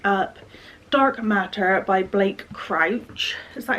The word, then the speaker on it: Crouch: Also, because of that video, I wanted to pick up Dark Matter by Blake Crouch.